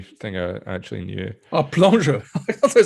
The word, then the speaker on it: Plongeur: Oh, plongeur. I thought they were saying bonjour. Bonjour. Bonjour, monsieur. Bonjour. How's it pronounced?